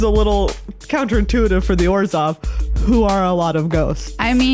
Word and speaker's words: Orzhov: Well, the little ghosts made me think that it's Orzhov. I'm going to give you a clue. It rhymes with Borzov. Is it Orzhov?